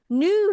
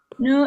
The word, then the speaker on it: nu: Nu ik je niet hoor. Niet hoor. Oke, artinya sekarang. Nu itu hoor. sekarang. Kalau bahasa Inggrisnya now, nu, tapi bacanya bukan nu ya, tapi nu, mulutnya moncong.